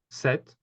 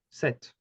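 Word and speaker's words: sept: number do we have set okay so here the p is silent set okay then we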